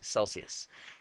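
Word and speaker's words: Selsius: else they actually bought a company called Celsius spelled with an S Celsius and Celsius used g7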